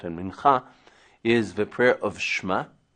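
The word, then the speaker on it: מנחה: The 3 prayers a day: Shacharit, the morning prayer; Mincha, in the afternoon, or Mincha, if you cannot pronounce the Cha; and Arvit or Ma'ariv,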